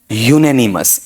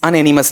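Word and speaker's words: unanimous: उच्चारण बताओ बताओ बताओ यूनेनिमस या अनएनिमस यूनेनिमस अनएनिमस नहीं होता है ठीक है पहले कोई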